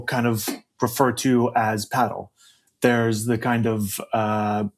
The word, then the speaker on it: padel: So they say pedal. But uh if you ask any Spanish person or any English- speakaking um uh person, they'll tell you that the correct pronunciation is paddle.